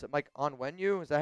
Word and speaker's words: Onwenu: Mike onenu. Is that how you pronounce it? Uh Mike onenu. Onwenu.